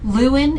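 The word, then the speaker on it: Lewin: the luin bone clamp luin is spelled l e w i n and it also is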